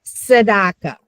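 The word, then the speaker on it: צדקה: And though that word is saddaka and so it's think of putting a t and an s together. So, sedaka. Okay. And it it's a hard combination to get in the beginning.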